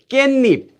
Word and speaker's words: 깻잎: So this becomes pronounced as 깻잎, 깻잎.